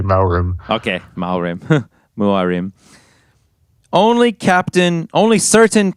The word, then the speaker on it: Muarim: I always called him Maurim. But isn't it But M-U-A? Yeah, you're right. Okay. In my head, whenever I read it, I always say Maurim.